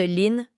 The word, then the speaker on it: Lyn: Par habitude, la maman de Vicky, Chilin Truang, se présente tout simplement sous le nom de Lyn, prononcé comme Lin.